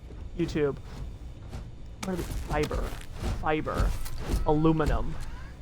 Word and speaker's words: aluminium: Aluminum. Whereas some people like to say aluminium, I think is how they pronounce it, which is a choice.